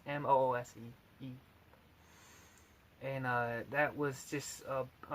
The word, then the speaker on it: Moose: And it was called Bull Mose. I mispronounced the last word. It's Moose.